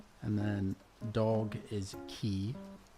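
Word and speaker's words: ci: And then dog is key. C I bar. So, oh yeah, I guess I didn't really spell it out.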